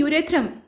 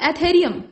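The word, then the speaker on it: Ethereum: Question number 58, यहां कहा गया कि यूरेथ्रम, माफ कीजिएगा, एथेरियम, यहाँ जो प्रोनाउंसिएशन है वो एथेरियम है।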